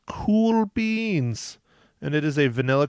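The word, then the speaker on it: Kuhl Beans: It is, and it's spelled the cool way, not COOL. It's spelled KUHL.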